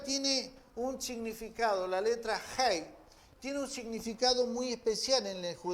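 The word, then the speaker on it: ה: letra del alfabeto hebreo, la H se pronuncia Hei, Hei, ¿sí? Así, tal cual. La H es Hei.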